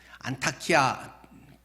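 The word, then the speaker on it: Antakya: 안 되어 여러분께서 그 안타키아 이야기 자주 나오잖아요 그들의 그 발음으로는 전에는 수리하지만 지금은 그 트리케 터키 국경 그 지역으로 바뀌었잖아요 그래서 트리키의 언어로는 안디옥은 영어식 발음이고 안타치아지여 안타키아 계속 그 여진이든지 엄청나게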